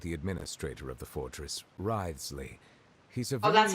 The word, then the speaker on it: Wriothesley: I mentioned that I have had personal dealings with the administrator of the fortress, Wriothesley.